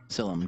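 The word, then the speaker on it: Sylim: Silim, God of Shadows.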